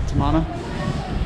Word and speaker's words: Tamana: had here last night um here back at tamana i'm finally pronouncing it right um and then we're going to head off on the boat at about 11 11 30.